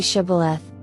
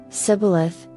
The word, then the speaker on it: Shibboleth: If he replied, "No," they said, "All right, say Shibboleth." If he said, Sibboleth, because he could not pronounce the word correctly, they seized him and killed him at the fords of the Jordan.